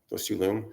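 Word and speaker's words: rlung: And then focusing on those two lung, sorry. It's funny how similar the words are. It's actually R-L-U-N-G, so it's just like our lungs. The R is silent.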